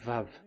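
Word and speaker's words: וו: So the word, the shape Vav is really pronounced V, like Vogue.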